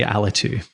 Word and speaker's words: Alitu: It was 2 years ago we talked about, and then you haven't launched Alitu, or how do you pronounce it in Scottish? I say Alitu.